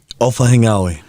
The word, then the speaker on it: Ofahengaue: How do you say your last name? Ofahengaue. That's how you say it.